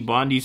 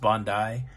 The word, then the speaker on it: Bondi: it's a private swimming club this is the bondi's iceberg private swimming club it's 303 a.m now